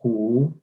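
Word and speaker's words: 虎: So the pronunciation of tiger is hu in Chinese language, H-U.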